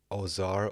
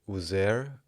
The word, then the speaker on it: Osiris: Osiris is pronounced as Ozar or Uzer.